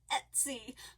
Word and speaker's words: Etsy: So I practiced and practiced and practiced to say it his way. And it's not. I was right. It's Etsy.